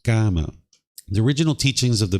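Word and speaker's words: kamma: to it as karma karma is the Sanskrit version of this word where the pi version is in uh is pronounced GMA the original teachings of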